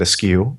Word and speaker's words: eschew: Eschew. I always pronounce that askew, and that is, an alternate pronunciation.